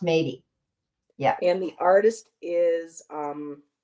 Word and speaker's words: Métis: So it's pronounced Métis.